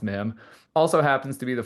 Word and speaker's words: mim: So the MIM was actually taken from the 24th letter of the Arabic alphabet, which is pronounced MIM.